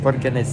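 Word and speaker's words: Borgarnes: That's how it's pronounced, Borganes? Borganes.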